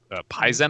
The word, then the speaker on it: Paizen: P-A-I-Z-E-N. I don't know. I like to where the pretend emphasis it's or stress is. pronounced like Paizo. Paizen.